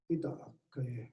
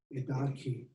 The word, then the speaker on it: Ida'akaye: Ida'akaye, a very old Zuni name, properly pronounced Ida'akaye, nowadays pronounced Idaki.